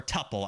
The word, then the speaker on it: tuple: my God that's a tuple oh or tupple I don't know how you say it I say Tuple I hate saying tupple it sounds like tupple Weare I don't pass around